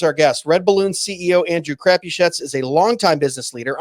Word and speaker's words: Crapuchettes: It's Andrew Crapuchettes.